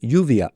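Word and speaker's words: lluvia: Here's how most Spaniards would say it. Yuvia. And now an Argentine. Shuvia.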